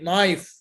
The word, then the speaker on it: knife: K have two cases. One, it's not pronounced. When is the K not pronounced? You said it before, night. Okay, no, exactly. Knowledge, new, excellent, excellent, very good. Okay, knife, perfect.